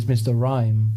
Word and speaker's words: Mr. Rime: rhyme DC or not DC says pikas mr. rhyme rhymes with mr. mime so Carolyn's gone TC